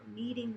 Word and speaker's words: kneading: working the bread dough kneading the bread not need like I need something but need like I'm kneading the dough with that silent K okay Part B you